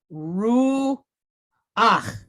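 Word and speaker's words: רוּחַ: This is a furtive patach. We're going to flip it because it's following these rules. So we're going to pronounce the vowel sound and then the consonant sound. So we end up with ach, right? So what is the word here? We have ru ach.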